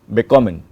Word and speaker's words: bekommen: Okay, there, as you can see while I am pronouncing it, the stress is on kommen, bekommen.